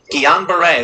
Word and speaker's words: Guillain-Barré: diagnosed with an obscure neurological disease known as Guillain-Barré syndrome. Is that how you pronounce it? Guillain-Barré.